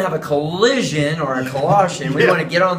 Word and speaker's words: Colossians: we get to the book of collisions collisions you need Colossians I think you've been